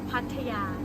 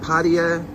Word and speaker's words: Pattaya: How do you pronounce pata? It's pata. Not patia. No. Not paya. No. Pata. Yes. It's pata.